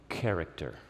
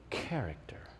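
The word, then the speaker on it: χαρακτήρ: exact imprint let me give you the greek pronunciation you ready for it character that's the greek word that's how you pronounce it character so you read the text that way isn't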